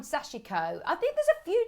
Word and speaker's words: sashiko: of messages saying it's got three syllables it's called sashiko i think there's a